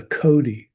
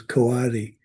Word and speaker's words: coati: And they had how do you pronounce it? A Cody. We pronounce it as Coati, but a Cody.